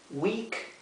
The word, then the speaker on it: week: Day, day, día, week es semana. Fíjense que la doble e, la doble e siempre se pronuncia como la i nuestra.